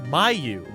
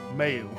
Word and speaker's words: Mayu: It's Mayu. Oh, Mayo. That's what I meant. Say it right.